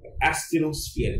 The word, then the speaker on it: asthenosphere: Asthenosphere. A-S-T-H-E-N-O-sphere. S-P-H-E-R-E. The word sphere is written with a P but pronounced with an F.